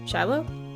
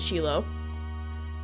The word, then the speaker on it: Shiloh: coming over Shiloh okay my inclination is always to pronounce it sheilo but I want to blame that on um like Japanese names and stuff like that because like shirou for example or something like that so my instinct is always to pronounce it sheilo but I'm pretty sure it's Shiloh isn't it my sister's